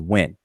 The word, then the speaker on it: wn: These 2 glyphs are transliterated as WN, and the conventional pronunciation of this word is when. All right. Now that's not meant to be historically accurately as if to say that that's how the ancient Egyptians pronounced this word, but this is a convention that we use today.